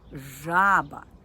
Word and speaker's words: жаба: А зараз зверніть увагу у слові жаба перший склад я вимовляю вгучніше жаба тобто я роблю наголос на цьому складі у слові жабеня я